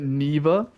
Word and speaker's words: Niwa: know she's calling it neva which is like a german thing because germans pronounce the w as v but dude like i don't give a uh i'm gonna call it niwa because it's spelt with